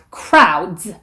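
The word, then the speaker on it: crowds: 이 것일 수 있고요 끝 빠른 처리가 크라우드 스 뜻을 이렇게 d 하고 s 가 자연스럽게 연결되지 않고 드스 요렇게 분리가 된것 여러분이 부자연 스럽습니다 크라우즈 브라우즈 이렇게 밤이 되어야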